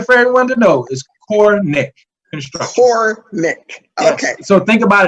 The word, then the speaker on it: Corenic: e in there uh you know sometimes people pronounce it the wrong way so the wrong way is quranic some people do that the correct way and